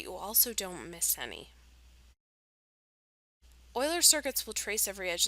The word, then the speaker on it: Euler: talk about more and in case you need to know how to pronounce it it's Euler so an Euler circuit